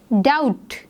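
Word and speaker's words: doubt: डाउट, बी जो है वो एक साइलेंट लेटर है, इसको हम डाउट नहीं पढ़ते हैं, इसको हम डाउट पढ़ते हैं, सो बी is silent in this word.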